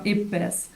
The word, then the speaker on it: IPBES: It's IP pronounced IP like your hip and best like best. So um we try to adhere to that as much as possible. So from IPBS, our mission is to